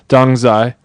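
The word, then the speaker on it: Dongzhi: for around Christmas time, which is Dongzai, I believe is how it's pronounced.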